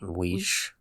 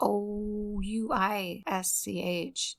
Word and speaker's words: Ouisch: How do you say? Weish. Yeah, Ouisch.